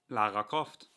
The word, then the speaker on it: Lara Croft: And I was like, oh, you mean Lara Croft? With those hard American R's. And he was like, yeah. Lara Croft.